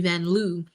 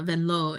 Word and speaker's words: Vanloo: um or if we're in the states, which we are, Julie Vanloo, but uh Vanlau is how you say it.